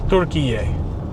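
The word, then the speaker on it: Türkiye: A lot of dried fruit in Costco, from the brand Nutty and Fruity, that came from Turkey, or Turkiye, as they pronounce it, as the proper way to pronounce so it now.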